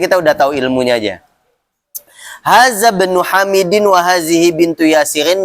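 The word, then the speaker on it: هذا ابن: Hazabnu. Kenapa dibacanya hazabnu? Kemarin apa disebutnya? Hamzatul wasli. Iya. Jadi hamzah ada dua, ada hamzatul wasli, ada hamzatul qat'i. Nah, ini termasuk hamzatul wasli, maka dibacanya langsung nyambung.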